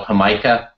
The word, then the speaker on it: jamaica: uh Mexico as well it's also called hamikah or which is spelled like Jamaica um and it's the